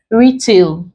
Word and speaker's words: retail: Retail, we stress the first syllable.